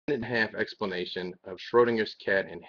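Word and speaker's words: Schrödinger: got tongue tied because it's not schlesinger's cat it's schrodinger's cat and i can say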